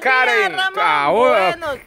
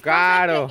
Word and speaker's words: Caro: Buenos días, Marielita, y por aquí también tenemos a buenos Karen. Caro. Él lo niega y a cada rato lo pronuncia.